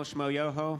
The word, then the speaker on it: Shmo Yoho: So a lot of y'all might know us from our YouTube channel, Shmo Yoho, accent on the yo.